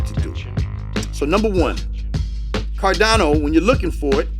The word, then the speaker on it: Cardano: on coinbase ada all this time i've been thinking it's cardinal ada but it's not it's actually pronounced cardano ada so what you also